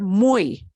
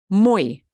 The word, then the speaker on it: muy: this in Peru okay so if Y is the very last letter of a word it'll make the sound like exactly like this vowel e okay if Y is the last letter of the word it'll sound like that but if y comes